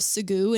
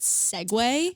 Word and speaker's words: segue: I got so many messages in support of Sagoo and how illegal that should be to pronounce it segue.